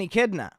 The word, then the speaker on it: echidna: That's an echidna.